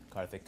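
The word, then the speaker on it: Karthik: uh just your full name and how you spell it um my full name is carthic carthic uh k a r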